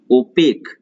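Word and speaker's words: opaque: Right, now coming to ओपेक। ओपेक ये आपका जीके वाला ओपेक नहीं है, OPEC, ये इसका अलग है, ये ओपेक नहीं है, लेकिन उच्चारण ओपेक ही आता है।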